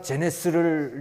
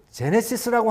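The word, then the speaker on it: Genesis: 이게 이렇게 하고 읽으시는데 뭐 쪼고저쩌고 하다가 자, 그래서 우리가 제네스를 이제 개발했습니다. 제네스예요. 그래서 잘못하셨겠지. 제네시스라고 하는 말이 여러 번 나오는데 열 몇 번이 나오는데 계속 제네스 발음이 안 되시는 거예요.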